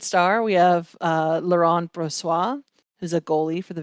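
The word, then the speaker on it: Brossoit: for our third star we have uh Lauren brassois who's a goalie for the Vegas golden knights and if it's not pronounced bro sois you're a liar because that's a French Canadian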